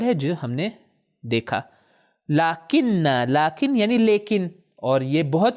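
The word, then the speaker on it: لٰكِنَّ: تلفظ میں تھوڑا سا فرق ہے. ہم توجہ کریں. پہلا ورڈ ہے وہ لاکن، تشدید کے ساتھ، شدہ کے ساتھ، لاکن.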